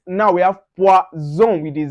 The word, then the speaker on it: poison: Now, for instance, if you see S in between two vowels, like for instance, that's S in between two vowels, you pronounce that Z. Now, an example, we have poison, poison.